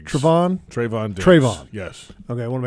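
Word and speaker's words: Trevon: corner you've got Travon Trayvon how do you pronounce Siobhan Trayvon Trayvon yes okay I want to make sure I pronounce that right Trayvon Diggs who last year had 11 interceptions I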